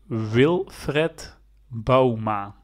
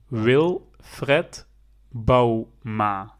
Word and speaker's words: Wilfred Bouma: played for long time for PSV and you pronounce it like this will Fred Bouma wil Fred Bouwma Yes so Now You Know More video's pupping